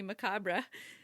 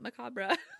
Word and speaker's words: macabre: So I Googled it and it's not macabre. It's macabre. Craziness.